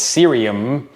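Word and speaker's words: Ksyrium: of M hav uh apparently the K is silent according to the Internet so it's serium um these were on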